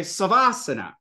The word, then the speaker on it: savasana: Garuda Asana it's garudasana instead of saying Sava Asana you say savasana so in this way